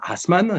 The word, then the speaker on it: Assmann: qui s'appelle jean william assmann si on prononce à l'allemande dont kita allemand qui